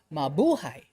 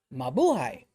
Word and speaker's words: Mabuhay: Stress on the second syllable. Mabuhay. Mabuhay.